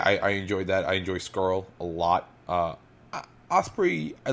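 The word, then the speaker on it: Scurll: Skrull.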